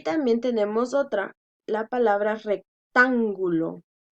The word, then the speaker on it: rectángulo: Y también tenemos otra, la palabra rectángulo. Rectángulo. Entonces, última, penúltima, antepenúltima. Lleva tilde.